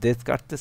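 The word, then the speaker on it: Descartes: কার্তেস ওটার জনক হচ্ছে রেনে দেস কার্তেস দেস কার্তেস কেন দেশটা সাইলেন্ট থাকে ফ্রান্স ল্যাঙ্গুয়েজে দেশ কার্তেস কার্তেস থেকে আসে কার্তৃশ্য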